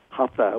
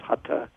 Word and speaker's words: hatha: And this is usually under the category called hatha, and most of us mispronounce it, hatha. We've Americanized it. It's hatha yoga.